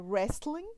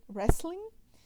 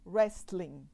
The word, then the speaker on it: wrestling: correta da palavra é Wrestling Wrestling E aí isso pode causar dificuldade pro aluno E aí o aluno fala por exemplo Wrestling né usando T que não é pronunciado aí o professor pode